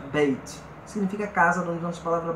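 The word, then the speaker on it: בית: A pronúncia Beit.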